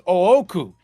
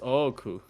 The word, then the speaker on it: Ooku: the kanji for Oku, the second kanji is Oku, and the kanji for big is O, so it's Ooku. Yeah, it's Oku.